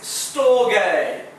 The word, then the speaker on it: storge: The first love, it says, if you had to read it like in English, it would say storge, alright? Which isn't correctly pronounced. It actually says storge. That's how you pronounce this word.